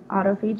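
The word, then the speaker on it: autophagy: anymore um and it's called autoag that's how you say it right there autopi so we're eating ourselves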